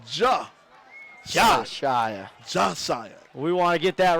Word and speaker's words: Josiah: Josiah Davis's name wrong it's not Joe it's more of Ja we want to get